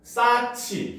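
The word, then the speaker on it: 쌓지: 히읗과 디귿이 합쳐져 가지고 티귿이 되고, 싸치, 히읗과 지읒이 합쳐져서 치읓이 되고, 그렇죠?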